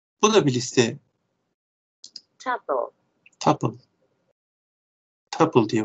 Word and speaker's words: tuple: Tuple. Tuple diye okunuyormuş.